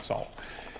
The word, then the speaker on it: 走: Sorry, it's a third tone, 走.